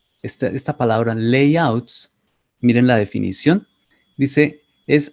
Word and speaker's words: layout: favor en la pronunciación presten cuidado a esta pala esta palabra que tiene la combinación a y ya sea a y latina oa y generalmente eso sea pronunciar el sí por eso decimos layouts si layout entonces los